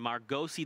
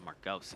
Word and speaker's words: Margosi: Is that how it's officially pronounced? Margosi? Yep. I actually had a chance to meet, well, when I interviewed him, I was like, is it Margos or Margosi? He said Margosi.